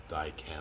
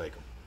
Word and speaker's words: Dykem: I guess it's actually pronounced Dykem, but when I was in school, everyone called it Dykem.